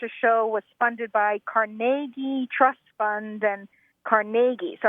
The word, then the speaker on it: Carnegie: again and again carag caragi Carnegie Accent on the second syllable with more of an a than a e right so the Carnegie